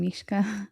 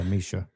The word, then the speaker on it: Mischa: Yeah, because I kept calling her name Mishka. Yeah. And that wasn't right. Yeah, Mischa.